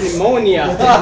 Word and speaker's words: pneumonia: man the topic was pneumonia then again man the p is silent stands for maybe Poetic